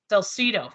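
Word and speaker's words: Salcedo: if I'm gonna say this right let's just spell it out s-a-l-c-e-d-o Missouri Salcido Salcido thank you so awesome I love how you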